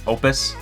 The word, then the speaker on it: Oupes: It's pronounced Opus.